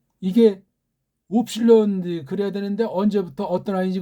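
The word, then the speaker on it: ύψιλον: 이건 오고 이거는 현대 아이들이 이걸 위라고 하는데 원래 이거를 우라고 발음해야 돼요. 우. 이게 웁실론 그래야 되는데 언제부터 어떤 아이인지 이걸 갖다가 윕실론, 이거 발음도 제대로 못해요.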